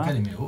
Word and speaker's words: Luca de Meo: Luca De Meo, je prononce bien Patrick, c'est ça? Luca De Meo.